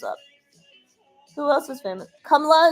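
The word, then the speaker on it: Kamala: Kamla is like it's flat. It just there's no stress. It's just like straight.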